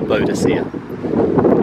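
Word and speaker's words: Boadicea: burnt it down well you can pronounce either way Boudicca or bodacia and if you want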